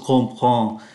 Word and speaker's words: comprends: Louise nghe như vậy thì nói oui, je comprends. Ký tự em ở đây phát âm là N do phải đứng trước ký tự P.